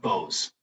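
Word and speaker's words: Boese: through your Mr Mayor it's pronounced Bose Bose I'm the sound system just an extra e thank you thank you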